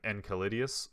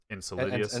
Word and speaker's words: Enceladus: hoping it was, I'm gonna butcher this name, Enceladus or Enceladus, however you want to pronounce it. Enceladus.